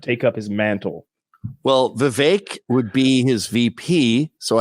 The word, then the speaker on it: Vivek: Vivek. It rhymes with cake.